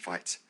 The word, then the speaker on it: Vite: And yes, I pronounce it Vite.